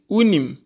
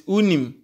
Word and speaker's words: unim: she knows on on you know in is unim you know or do you know it's unim unim I have to